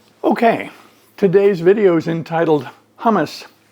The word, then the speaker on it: hummus: Well, first of all, that's the American pronunciation of a food that is present the world over. So hummus, the American pronunciation, I'm not good at pronouncing Arabic words. I'm not good at Arabic pronunciation. My take on hummus in a more Arabic pronunciation would be hummus. You have to pardon my inability to say it quite properly.